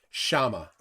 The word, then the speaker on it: Sciamma: Oh, and Sleevewells says that Sciamma is pronounced Shama.